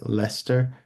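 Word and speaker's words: Leicester: lot of words like they have some words called like Lester which is not spelled like Lester it's spelled l e i c s t r uh there's gluster which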